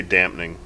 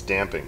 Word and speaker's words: damping: pronounced what is it i say dampening which is not right it's damp damping no it's damping oh damping i don't